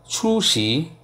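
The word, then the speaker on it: 厨师: দেন shape, শেপটাকে চাইনিজে বলে ছু শি, ছু শি, ছু শি টানতে হবে, ছু সেকেন্ড টোন, ছু শি, ছু শি। দেখেন আমি কিন্তু ডাইরেক্ট শ্রী বলি না, শ্রী চেপে ধরি, ছু শি, ক্লিয়ার।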